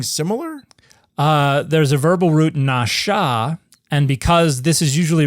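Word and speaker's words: נשא: read diacritics, they think N-A-S with a chevron on top of it, A, is pronounced NASA, but it's nasha.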